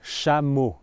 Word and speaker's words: Chamonix: So the first syllable is sha sha. So you might want to think uh of the a sound as a British a as in in the word back or black. So not the American way black or back but back black. So sha sha then you have mo shamu shamu.